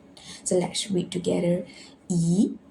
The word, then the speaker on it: 一: So the E need to change to E, the second tone. Why? Because before fourth tone, you need to read second tone. So let's read together. 一个, 一个.